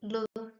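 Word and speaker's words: 六: zero the number here do you remember how how we pronounce e plus u we pronounce it leo yo so lio Leo Leo tone Leo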